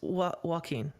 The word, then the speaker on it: Joaquin: And Turarts, it's Joaquin.